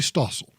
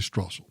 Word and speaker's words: Strasser: page of The Wall Street Journal is Kimberly Stossel and Kimberly Stossel I'm sorry Strasse lobbies pronounce my last name wrong Kimberly Strasser has also written in an opinion piece called